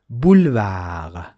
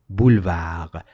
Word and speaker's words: boulevard: Boulevard. Boulevard. B. Boulevard. Exactly. Why it is red in color? Because another word, another letter that is not pronounced at the end of the word is also de.